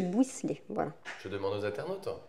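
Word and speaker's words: Bouysselet: Du buisselet. Bouisselet, voilà.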